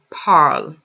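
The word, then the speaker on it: parlent: parlect el el parle when there's a verb and you see ent and it's a verb it you do not pronounce the anti il el pal they speak they are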